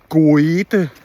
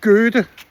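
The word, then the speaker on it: Goethe: Go-e-the er en stor poet. Så siger læreren, oe på tysk, det udtales ø, så det hedder Gø-the.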